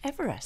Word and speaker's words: Everest: last night uh all about all about george everest and uh george everest as uh as his actual name was because he pronounced it eve rest um and one of